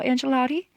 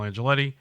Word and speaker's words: Angioletti: I'm honored and excited to have SAL Angelotti. Angelotti? Yeah, it's okay. You could say however you want. No, you got to tell me how to say it. It's Angioletti.